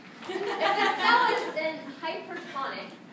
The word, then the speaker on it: hypertonic: If the cell is in hypertonic, emphasis second syllable, I did not read that.